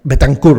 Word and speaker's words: Betancourt: ¿Cómo se pronuncia tu apellido? ¿Sofía Lameiro? Lameiro, sí. Perfecto. Y Fernanda Betancourt. Betancourt, ¿right?